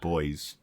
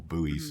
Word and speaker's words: buoys: port and possibly even a few boys out or buoys if you're insisting on pronouncing it that way.